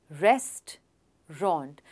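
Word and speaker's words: restaurant: वो है रेस्ट रॉन्ट. इन दो वर्ड्स को सेपरेटली एक बार सुनिए. रेस्ट रॉन्ट रेस्टोरेंट. है ना सिंपल.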